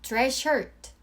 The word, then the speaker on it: dress shirt: 이럴 때는 둘 다 발음하기가 번거롭고 에너지 소모가 많이 되기 때문에 그냥 dress shirt 라고 연결해 주시면 돼요.